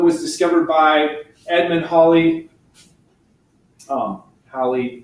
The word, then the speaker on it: Halley: Halley rhymes with Valley.